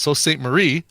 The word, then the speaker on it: Sault Ste. Marie: I know that it's pronounced Sault Ste. Marie.